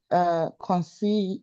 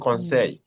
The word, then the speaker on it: conseil: conseil, the ILL is pronounced as yi. Oui. Conseil.